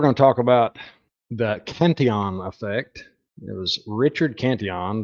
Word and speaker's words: Cantillon: to the state is often known as the Cantillon effect, or a lot of people refer to it as Cantillon effect because of the way it's spelled. But being a French guy, it was Cantillon.